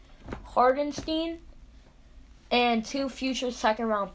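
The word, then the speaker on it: Hartenstein: traded for isaiah hartstein i'm pretty sure that is how you pronounce it hardenstein and two future second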